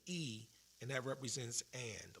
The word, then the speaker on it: y: The Y is pronounced as E, and that represents and, like A and D.